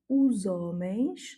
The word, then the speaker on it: os homens: Et donc ici, on fait la liaison the, os homens. Ici, le H n'a pas de valeur en tant que consonne. Et donc, on va faire la liaison directement avec le O.